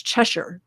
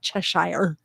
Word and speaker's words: Cheshire: Chester chest dang it chesher cat um I'm American I try to say Cheshire but I actually have British relatives that live in a little town called Bolton and it's chesher not Cheshire um thank you very